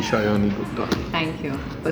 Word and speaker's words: Sayani Gupta: आज मेरे साथ मौजूद हम सबकी चाहिए थी शायानी गुप्ता. Thank you for spelling my name correct. I mean pronouncing my name correct.